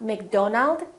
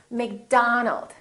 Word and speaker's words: McDonald: not robert it's robert it's not mcdonald it's mcdonald all right let's practice repeat